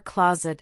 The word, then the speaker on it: clothes: The th in clothes is silent, it sounds like close.